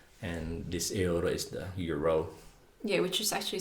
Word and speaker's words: euro: yeah, you but- just have to pronounce it as it is written, euro.